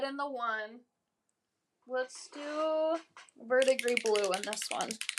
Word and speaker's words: verdigris: Verdigris. That's how I That's how I say it. Verigris. That's No, seriously, that's how I say it to spell it. I'll say in my in my mind and be like Vertigris. And then every other time I just say verdigree.